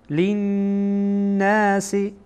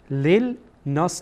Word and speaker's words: للناس: ما بیناه، ما بیناه للناس، للناس، لام با نون وصل میشه. للناس نمیخوانیم، لیل ناس اشتباهه، چرا نون از حروف شمسیه هست. یعنی این که لام، این لام دومی که میبینین این تلفظ نمیشه.